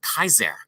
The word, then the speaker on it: Caesar: this in pronunciation as Julius Caesar which would accurately be pronounced Julius Kaiser see no J but a y sound was there and Novi it was